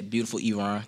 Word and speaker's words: Beautiful Eron: Yeah, Beautiful Eron.